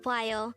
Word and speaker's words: 봐요: is poi and the second syllable is yo pronounce it with me the word bio means si or the present tense action of